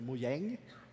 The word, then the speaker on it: Mojang: it's a Swedish word if you spell it the same way but you have like two dots over the a it's muyang which means Gadget or Gizmo